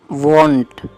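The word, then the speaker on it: vaunt: तो ही was wanting इसकी pronunciation प आपको ध्यान देना वांट डब्ल्यू ए एनटी की जो प्रोनंसिएशन होती है ना वो है वांट ये है वंट दोनों में हल्का सा डिफरेंस है बस इसका मतलब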